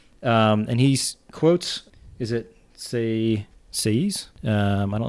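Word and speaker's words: Sieyès: that the nation, and he quotes, is it Sayes? I don't know how to pronounce that person's What page name. on? 218. It's S-I-E-Y-E with an accent, S. CAAs?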